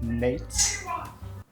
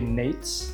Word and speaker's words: Nejc: Starting off with, I've recently found out how to pronounce this guy's name. It's actually Nejc. It's not. Also, there's a crazy guy screaming outside. Oh shit. That guy's yelling. All right, anyway, it's actually Nejc, which I would have never in a million